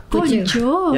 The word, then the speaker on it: kanca: Oh, Konco. Ya itulah. Itu teman bahasa Jawa. Konco, Kunci itu kanca. teman. Apa ya tulisannya Tahu sih. kanca tapi bacanya konco.